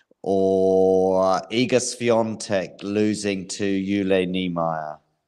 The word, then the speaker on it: Jule: So it's Jule, by the way. No, you can teach me some pronunciation. It's Jule Niemeier, Jule. yeah, Okay. yeah, yeah. I was always reading I it think. Jule, I mean, I'm not German, no, but it's fine. I was always reading it Jule, but you definitely know better.